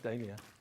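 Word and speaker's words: Dahlia: I say Dia. Dia. Dalia. Casminine says Dalia. potato is the American is that the American pronunciation American I think so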